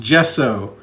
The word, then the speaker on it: gesso: It's like I said, I wish they'd just spell it on the bottle the way they want you to say it. It's gesso.